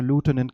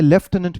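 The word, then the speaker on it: lieutenant: मैं एज per American English convention मैं इसे लूटेनेंट कह रहा हूं। आई ऑल्सो नो कि इसे लेफ्टिनेंट भी कहते हैं, और वो कौन सा कन्वेंशन है, ब्रिटिश कन्वेंशन है, राइट।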